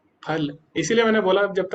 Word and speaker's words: फल: आप बोलो फल, फल, फल, है ना, तो ये सब गलत है। जो फा है वो, जो उच्चारण शुद्ध है वो जब दोनों होंठ मिलेंगे, फा, फल।